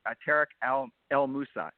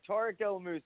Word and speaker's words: Tarek El Moussa: A very special guest star, Tarek El Moussa. I pronounced it right? Yes, I did. You said it right. Tarek El Moussa.